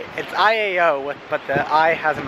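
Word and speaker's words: ʻĪao: That's how you pronounce it. So now we just reached Iao National Park Valley, Iowa Valley. It's Iao, but the I has an apostrophe and accent thing over it, I think.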